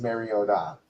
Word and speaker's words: Mariota: Football, somebody told Chris Collinssworth the actual pronunciation of Mariota, which is Mariota.